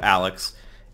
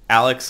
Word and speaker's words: Alyx: they're calling it half-life Alex Alex is almost definitely the way it's spelled Alyx Vance who was